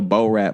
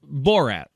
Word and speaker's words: Borat: ran like he was an extra in a Bo-Rat movie.